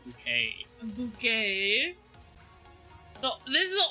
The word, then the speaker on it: Bucket: And so, like, her last name was Bucket, but she'd always be like, it's pronounced Bouquet.